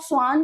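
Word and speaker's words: Schwann: तो थियोडल स्क्वान मतलब स्क्वान को आप स्ान जैसा प्रोनाउंस करो। स्ान एक एनिमल है।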